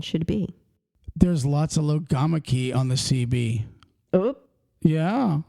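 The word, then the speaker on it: logomachy: word genius lamak lamak logo lamak Lo loog lamak key lamak key spell it l o g o m a c h y okay lamak key what does lamak key mean an argument about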